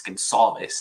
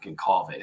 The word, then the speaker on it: Gonçalves: I would have played Gonçalves. So I got a message from our friend Big Z. I think he sent me a DM. It's Gonçalves, not Goncalves. So I learned something new every day.